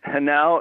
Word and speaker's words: Henao: So it's the Hanau. It's spelled Henao, Hanau Contemporary Art Center,